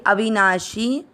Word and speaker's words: अविनाशी: श ई की मात्रा जो है श पे वो है छोटी, तो इसको इस तरह से बोलेंगे अविनाशी। तू की मात्रा भी छोटी, लंबा नहीं खींचना तू।